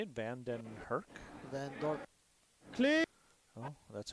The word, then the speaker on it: Van Dorp: Van Dorp.